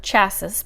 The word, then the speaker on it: chassis: was a golden chassis i would probably say chase's or chassis but chassis is the correct french pronunciation a golden chassis is